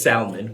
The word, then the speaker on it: salmon: Well, when when you're not putting your picky up is when you pronounce it as salmon. When you pronounce that L, you do not get the right Oh my lord.